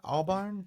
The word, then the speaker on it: Albarn: Albarn.